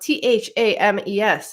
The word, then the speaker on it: Thames: flows through London, spelled Thames. How do you pronounce it, Gerald? It's Thames, obviously. Yeah, obviously. That was one of my favorite books as a kid. Thames doesn't rhyme with James, and I was very confused by the title.